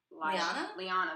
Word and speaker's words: Lyanna: I thought they say Leanna. How do they say it? Lyanna. That's how they say it.